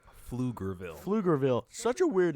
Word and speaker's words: Pflugerville: Yeah, you would think it'd be spelled with an F, right? That No. or a PH at least.